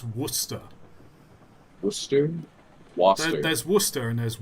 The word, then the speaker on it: Worcester: better pronounce from fre pronounced waser Worster oh where are you finding an H in oh that's Worster wer there's Worcester and